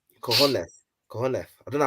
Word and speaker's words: cojones: You know, in Spanish you don't pronounce the S. Cojones.